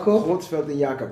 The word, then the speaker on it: Creutzfeld & Jakob: of a legendary hip-hop group how do you pronounce the name quelt yob quelt and yakob and that's cow disease mad cow disease mad